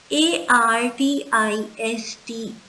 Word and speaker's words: artiste: ARTISTE is pronounced as artiste, and this involves a person who is a professional singer or dancer.